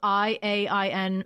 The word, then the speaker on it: Iain: It's spelled Iain Banks.